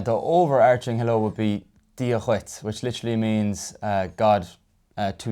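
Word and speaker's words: Dia duit: Yeah, and now also I'm doing a kind of a glottal sound there, Dia Chuit. It's spelled D-U-I-T, but in general we put kind of a shevu, kind of a softened sound on it.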